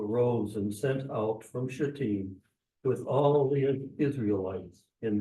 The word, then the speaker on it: Shittim: And remember, it's Shittim, if you want to pronounce it. You can certainly just say S, but somebody pick up and read chapter 3, verses 1 through 6.